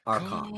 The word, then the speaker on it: Archon: It's Archon.